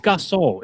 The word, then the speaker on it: Gasol: It's Gasol. It's Gasol. Gasol, man. There's no U in his name. It's Gasol.